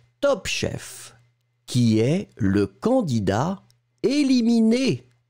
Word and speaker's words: candidat: The first one is candidat. Candidat in that case, as you can see, it's the masculine form. So it's written C-A-N-D-I-D-A-T. T, final T, not pronounced, but still it should be here.